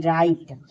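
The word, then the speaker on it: write: आर आई टी ई राइट देखिए डब्ल्यू आर आई सी के rake W एच ओ एल E whole T double O टू ये सब हमारा क्या है डब्ल्यू साइलेंट है अब देखिए वाई का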